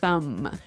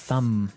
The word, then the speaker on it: thumb: No, I actually only pronounce the M, the Yes. thumb.